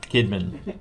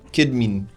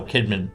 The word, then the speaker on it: Kydmeen: Kidman spelled Kydmeen. K-Y-D. M-E-E-N. Kidman. Kidmin. No, Kidman. Okay. It's pronounced the same, but Okay. just spelled differently.